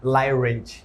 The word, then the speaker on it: Lay Rich: Is it lay or lie? Lay Rich. Rich. But people who don't speak people who speak no, you English, as an English speaker. I say Lay Rich.